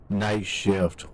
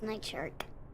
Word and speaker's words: Night Shark: Night shift 115. You said it wrong. It's Night Shark.